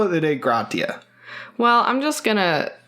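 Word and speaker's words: Dei Gratia: We looked it up, and it's like, Dea Gratia is how it's spelled. And then we watched a Smithsonian video, or the amount that the fucking government would allow us to listen to. And they called it the Grazia, despite no S.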